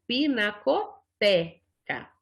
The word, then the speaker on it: pinacoteca: E por que tem esse E com esse acento aqui? Para mostrar que este E que tem aqui na palavra, ele é lido então eu leio pinacoteca, certo?